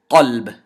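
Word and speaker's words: قلب: The first word is kalb, with a kaf. And the second word is qalb, with a qaf.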